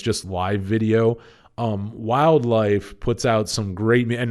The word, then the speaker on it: Wyldlife: And actually, if you're looking them up, Wildlife is spelled WYLDLIFE. So if you're looking them up, yeah, they're not spelled like like wild, like it sounds.